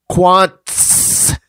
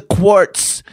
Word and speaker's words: Quantz: The name is Quantz. Quants. Stop it with the quartz.